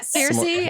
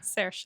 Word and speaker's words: Saoirse: to Do you need to listen to Cersei, how do I say her name? Saoirse.